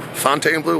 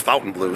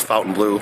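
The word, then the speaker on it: Fontainebleau: guys in front of the F Fountain Blue Fontaine Blue whatever you want to say I think it's actually pronounced Fountain Blue so if you're saying it differently it's Fountain Blue I did a little research on that today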